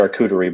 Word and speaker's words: charcuterie: Is that how you pronounce it? Charcuterie board.